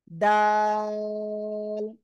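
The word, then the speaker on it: دال: যা বলতেছি সেটা করেন জিহ্বার আগা সামনের উপরের দুই দাঁতের আগা লাগান লাগে উচ্চারণ করতে হবে জাল জাল তিন আলিফ টান হবে কয় আলিফ তিন আলিফ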